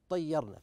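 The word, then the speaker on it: اطَّيَّرْنَا: في ما يتعلق بالرسم حينما قلنا ان هذه الصاد ترمز الى همزه الوصل فحينما نقرا هذه الايه لا ناتي بهذه الالف قالوا اطيرنا قالوا اطيرنا فنجد ان الالف هذه لا ناتي بها في النطق ايضا من الكلمات في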